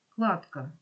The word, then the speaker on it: кладка: в кожному слові рядка кладка він є тому що в кінці складу не оглошується футболіст тут він також